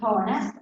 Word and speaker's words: honest: Politely, because to be honest, honest is one of the fewest words that have an H that is silent. Honest.